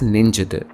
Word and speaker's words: ninchittu: Previously we saw the word written as ninchittu gets pronounced as ninjittu, and words like swagatam become swagadam.